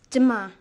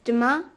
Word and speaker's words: demain: It's demain. Sorry, can you say that again, please? Yes, it's demain. How do you spell that?